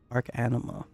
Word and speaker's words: Arcanima: Arcanima. Yeah, that's how you say it.